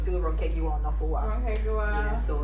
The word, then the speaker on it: Ronke Giwa-Onafuwa: yeah, there is a way you pronounce it. You take your time. Like, fam, don't rush my name. Ronke Giwa-Onafuwa.